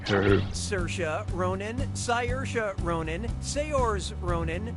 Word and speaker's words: Saoirse: Getting more wrong than I'm getting Saoirse right.